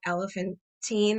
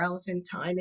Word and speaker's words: Elephantine: one in particular is called elephantine or elephantine it's pronounced differently by different people there's a number of